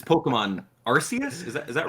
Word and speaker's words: Arceus: they're both correct um but for branding purposes and not making it sound like arse nintendo and i'm sorry pokemon company just changed the official pronunciation to arceus there's a little backstory that that's that's funny i actually did not know that that that's making me more inclined to respect the wishes of the pokemon company and say arceus i'll get caught yeah